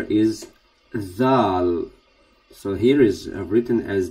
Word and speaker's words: dhaal: So the letter is dhaal. So here is written as D-H-A-L. Th. So you pronounce the. You put your tongue in the front of teeth.